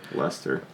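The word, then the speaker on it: Leicester: i mean ii is Lester and I really like Lester Lester yeah it's it's Bell tell he's name I see II STR so it looks like least er that's likely sure but it's Lester be sure wait how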